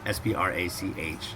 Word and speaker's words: Also sprach Zarathustra: So you have to ask for also Sprach Zarathustra, because it's spelled S-P-R-A-C-H. It's not Sprach. It's German.